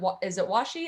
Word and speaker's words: washi: Is it washi? Am I pronouncing that right?